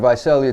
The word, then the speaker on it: Visalia: Visalia? Yeah, coming from Visalia to LA the first time, like, what was it feeling like for you?